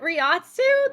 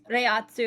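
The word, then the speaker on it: Reiatsu: Um, is it Riatsu that they use? Rayatsu, I should say.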